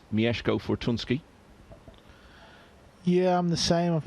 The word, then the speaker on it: Mieszko Fortunski: settle the question of exactly how you pronounce his name. So he's assured me it is Mieszko Fortunski.